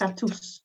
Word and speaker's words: Tatws: It's almost Tatws. like tatties Tatws. in Scotland.